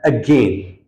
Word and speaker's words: again: for this word is again it's not a it is a e sound ባለው ማለት ነው again